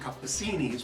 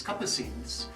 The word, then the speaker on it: Capucines: Some will pronounce it Capucinis, but it's Capucines, and that's the name of the Starbucks.